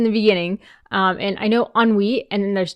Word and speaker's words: ennui: I've always read it as Ennui, but I know that's not how it's pronounced. Ennui.